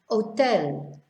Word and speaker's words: hotel: words here oh tell we just ignore the h as if it's not even there hotel so you're skipping over